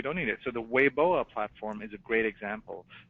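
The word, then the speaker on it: Weibo: Twitter combination and it's spelled Wei b o but pronounced way boa and it we were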